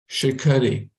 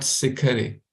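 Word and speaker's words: शिखरे: This is like sa, but this is not the sa, this is the sha, okay? Shikhare, not sikhare, okay?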